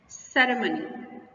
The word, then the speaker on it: ceremony: Ceremony, the main stress will be on sir.